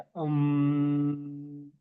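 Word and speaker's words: ॐ: सा बताओ अम मंत्र अम इसका प्रोनाउंसिएशन ऐसे होता है अम ओके अम या उम भी कह सकते हैं।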